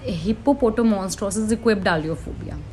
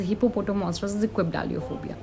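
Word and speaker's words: hippopotomonstrosesquippedaliophobia: इस like the name is हिप्पोपोटामॉन्स्ट्रोसिस इक्वेबडालियोफोबिया। Spellings बताती हूँ आपको। HIPPOTOMONSTROSIQUIPPEDALIOPHOBIA। This is हिप्पोपोटामॉन्स्ट्रोसिस इक्वेबडालियोफोबिया।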